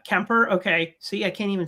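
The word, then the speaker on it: Kuemper: I go, okay, Darcy Kempfer, without Googling, I thought he was German or something with a name like Kempfer. So Darcy I didn't. Kemper? Yeah, Kemper.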